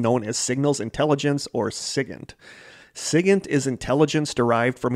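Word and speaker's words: SIGINT: as signals intelligence or I've seen this pronounced different ways it's SI G NT I've seen it pronounced Sig and I've seen it pronounced sigen so I'm going to go with Sig I'll probably end up switching it back and forth specializing in a discipline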